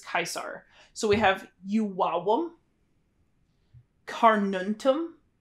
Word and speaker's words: Caesar: in Latin or like Julius Caesar would have been pronounced Julius kaisar so we have yuam